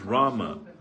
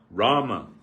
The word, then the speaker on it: Rama: not supposed to pronounce Rama he said this is not suda or pure we should say Ram is this correct shaj Rama is the true pronunciation ation but if one